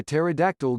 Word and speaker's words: pterodactyl: Mine is, why can't you hear a pterodactyl go to the bathroom? It's because the P is silent.